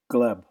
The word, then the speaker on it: Gleb: right yep that's right like Glenn with Glenn with a B that's the easiest way to remember it gleb got it and how